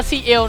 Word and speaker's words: Ciel: ผม ก็ กาชา นับ เคย อ่าน ว่า เซ เซ หรือ ว่า clv นับ แต่ ผม ส่วน ตัว ของ คิด ว่า น่า จะ ว่า ซีเอล นะ ครับ ก็ ผม ก็